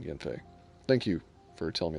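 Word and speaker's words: Yanfei: not what're R um yon what is it pronounced Yen okay I'll start saying that then Yen Fe thank you for telling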